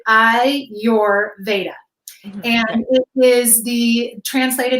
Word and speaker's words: Ayurveda: two yoga meditation is Ayurveda and you pronounce that I your Veda and it is the